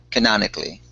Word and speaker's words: canonically: Canonically. You did a really good job pronouncing it. You just added that A sound, and then scaling.